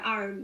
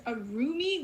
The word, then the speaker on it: Arum: That's one of the reasons why Arum. Yeah. So a lot of people like to pronounce it as Arumi, which is actually the wrong pronunciation. It's Arum, like the liquor rum.